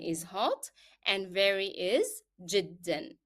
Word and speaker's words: جدا: So حارا is hot and very is جدا. And usually remember to pronounce جدا with the tanween, with the sound of n, because it is a part of the pronunciation of the word.